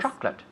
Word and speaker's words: chocolate: 1980s in the 1980s now we say chocolate chocolate yeah two syllables yes chocolate chocolate no chocolate wasn't